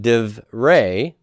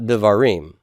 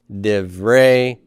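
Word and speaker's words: דִּבְרֵי: shava becomes silent so now i have de rey not devarim de rey moshe say that with me de vre mosche how would i translate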